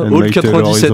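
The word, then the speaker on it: Old 97's: Comment on prononce ça? Old 97.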